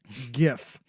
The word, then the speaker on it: GIF: should be in Gil it's not a draic interchange format it's Graphics interchange format hard G GIF I love how upset